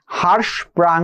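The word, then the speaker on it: Hirschsprung: এর ফলে একটা ডিজিজ হয় যার নাম হচ্ছে হারস প্রাং ডিজিজ বানানটা লিখে দেই এইচ আর আই এইচ আই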